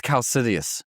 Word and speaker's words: Kaecilius: It's Kaecilius. Dude, but there's But it doesn't look like that.